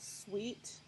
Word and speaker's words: Swheat: sell it at other big box pet stores, but it's spelled SWHEAT. Yeah. S wheat, because it is a wheat based.